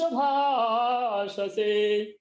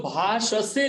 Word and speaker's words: भाषसे: जैसे कई लोग भाषसे लिखा है, उसको भाष से बोलते हैं। तो आपसे मेरा अनुरोध है कि कृपया इसको समझें कि ये दोनों अर्थ अलग अलग है।